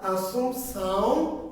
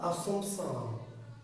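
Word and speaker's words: Assumpção: বাংলায় হলো এরকম লেখা আছে মনোয়েল, মনো আবার এ দেওয়া আছে, মনোয়েল দা আসুম, কোন বইয়ে দেওয়া আছে সাউম, কোন বইয়ে দেওয়া আছে কি সাম। একটু মানে উচ্চারণগত একটু পার্থক্য আছে।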